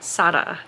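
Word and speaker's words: Sara: confusing my brain because it's spelled s a r a but the way the audiobook says it I think it's s and I'm probably saying that wrong because my brain tries to say it like the French way of saying but it's not French. I believe the author is Moroccan. Sada is how the audiobook narrator says it.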